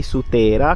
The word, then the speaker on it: Sutera: Qui sotto sorge il paese di Sutera, con l'accento corretto, e da qui, da questa piazza Sant'Agata, si può vedere il panorama.